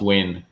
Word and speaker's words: Nguyen: And that's Win. Win, like win $1 million. Nguyen? If it's Nguyen, it's Yeah. pronounced Win.